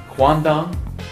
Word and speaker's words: quandong: and I she's written it down for me quandong did I say it right I did quandong